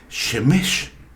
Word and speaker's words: Shemesh: Ya que, bueno, en el hebreo el acento recae siempre en la última sílaba.